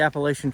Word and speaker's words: Appalachian: So I grew up in Indiana, and I would call it the Appalachian Trail. And I think that's what most people call it on this